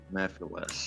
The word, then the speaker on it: Mephiles: Mephiles.